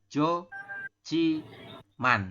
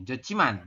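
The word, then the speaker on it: 좋지만: maka dibacanya adalah ciman jadi h-nya tetap tidak dibaca ya untuk konsonan h-nya hiatnya itu tidak dibaca maka teman-teman Bacanya adalah Jo Ci Man seperti itu ya kalau kita tulis Latinnya adalah Jo Ci Man seperti ini robun jochiman ya kemudian yang ini masih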